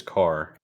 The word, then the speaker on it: Kerr: uh game developer Chris Kerr um I want to say it's Chris Carr because that's what it is out in Raleigh North Carolina there's a whole family name car spelled the same way okay okay so good